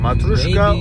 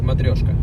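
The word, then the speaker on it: Matryoshka: Matuska or Matrioska. Which is correct? What? Matrioska. Matrioska.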